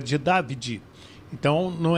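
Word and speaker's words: Davide: Ele, Wellon é David, David Antielote, né? Então, porque é italiano e falou assim, o pai dele chama de Dad, é de David, então não é David, não é David, é Davi.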